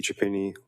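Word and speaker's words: Chiapini: My name is Japini. Last name is spelled C H I A.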